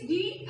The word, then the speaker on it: gnawers: The word is, the spelling is G-N-A-W-E-R-S, gnawers. G is silent, we can say gnawers.